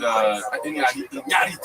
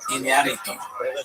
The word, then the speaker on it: Iñárritu: And Iñárritu, you have to say his name right. There's an accent on the name. Can I try? Iñárritu.